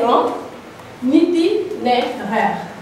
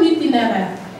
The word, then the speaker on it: itinéraire: Mais pour être beaucoup plus précis, donc ça c'est un itinéraire. Allez, toute la classe, répétez ça, un itinéraire. Répétez plus fort, un itinéraire. Itinéraire qui s'écrit I-T-I-N, R-A-I-R-E.